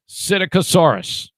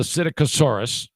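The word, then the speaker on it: Psittacosaurus: is called acidic asaurus i think the p is silent p s i t t a c o s a u r u s cyticosaurus they have found a fossil of the cyticosaurus of its clocal vent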